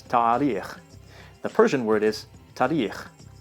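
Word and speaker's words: تاریخ: The Persian word is tarikh. So just the first A vowel seems shorter.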